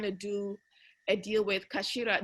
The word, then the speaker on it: CA4LA: do a deal with kashira do you know kashida they do um hats in japan it's spelled ca4la oh yeah yeah yeah